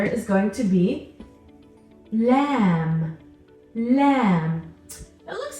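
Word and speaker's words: ل: J in English lamb lamb makes a sound kind of like your l in English except we're not doing L we're doing la la we're touching the tip of our tongue to the roof of our mouth the next letter is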